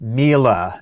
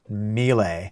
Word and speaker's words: Miele: most of this video I think it's Mila not Mele but either way I